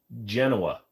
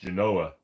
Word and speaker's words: Genoa: salami or ham uh I prefer Genoa salami and if you're going to say no it's actually pronounced Genoa shut up I actually went to a grocery store and the